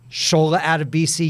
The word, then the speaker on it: Sola Adebisi: Let's start with the pronunciation. Sola Adebisi, yes?